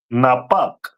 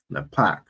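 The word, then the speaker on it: נופך: And that is pronounced in Hebrew as Napak. Napak.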